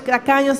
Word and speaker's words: tacaño: E eu lo pronunciava com C em vez com T. Y mi tata pronuncié con C en vez de un T. E hermano pastor Dario quando me escuchou, disse: não é assim, é tacaño.